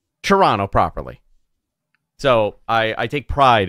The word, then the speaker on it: Toronto: Joel Pearl, up in Toronto. See, I said it right. I said it correctly. It's not Toronto. It's Toronto. Toronto. Or if you really want to get into it, Toronto.